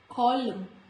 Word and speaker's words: column: Letter N is usually silent when it comes after M. Otherwise also letter N comes after M in the series of alphabet. Here also when letter N comes after letter M, it is silent, like autumn, not autumn,